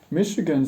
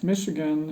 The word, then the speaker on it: Michigan: one of those places whose French presence in its history is betrayed by the salt CH sound in its name it would have been spelled with an essay if the British got there first as would Chicago for